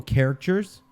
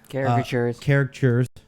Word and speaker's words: caricatures: Then they were doing digital characters. They were actually doing free digital characters. Caricatures. I said characters. You're saying it wrong.